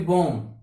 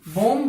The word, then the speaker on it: bomb: Next COMB, कौम नहीं, कौम, कौम, इस तरीके से, सॉरी बॉम, क्या है, BOMB, बॉम बोलते हैं, नहीं, बॉम, क्या होता है, बॉम, तो इसका क्या होगा, बॉम, बॉम।